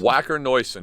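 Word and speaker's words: Wacker Neuson: Is it Wacker-Neuson? Wacker-Neuson. It's German.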